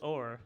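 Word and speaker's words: Oher: So it's Michael Orr. Is that how you say it? Orr? Or Yeah. Or Or like in a boat. like you row a boat.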